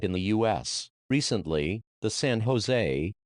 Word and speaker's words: San Jose: recently the San Jose pronounced son hos State University of which